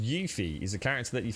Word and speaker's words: Yuffie: Yuffie, actually pronounced Yuffie, is a character that you find in Final Fantasy VII PlayStation 1 through a forest, but the Intergrade is gonna...